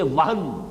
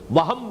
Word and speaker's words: وہن: note کر لیجئے، وہن، ویسے یہ کہ تلفظ میں وہم جو ہے میم کے ساتھ، یہ چونکہ ہمارے ہاں عام طور پر لفظ استعمال ہوتا ہے، آپ کو مغالطہ نہ ہو، یہ نون کے ساتھ ہے وہن، اور وہن ہی سے